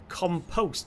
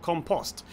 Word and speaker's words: compost: it was people saying it's pronounced compost, not compost. Now, obviously being from the UK, more specifically England, we say compost.